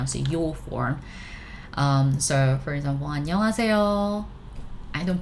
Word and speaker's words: 안녕하세요: Okay, so yeah, we don't pronounce yo clearly. 안녕하세요. We don't do that. I mean, it's supposed to be 안녕하세요, but 안녕하세요, softer, right?